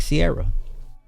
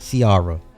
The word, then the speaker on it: Ciara: It's Ciara, not Seara.